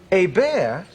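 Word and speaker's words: Hébert: A bear. H E B E R T. A bear.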